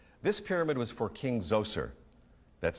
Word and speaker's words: Zoser: This pyramid was for King Zoser, that's spelled Z-O-S-E-R, in about 2650 BCE.